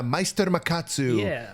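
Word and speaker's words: Meister Makatsu: Ah, Meister Macatsu.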